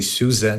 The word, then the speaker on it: SUSE: Czech Republic yeah exactly in Germany some people say Susan depends also on the region they really pronounce z for the hidden s I I was once